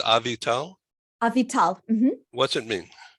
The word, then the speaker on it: Avital: So we have with us a special guest today, Avital. Did I pronounce that right? Almost. It's Avital.